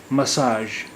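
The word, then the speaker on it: مساژ: مساج حالانکہ وہ انگریزی کا لفظ ہے مساج، لیکن اس کا تلفظ بھی مساج نہیں ہے، مساج ہے.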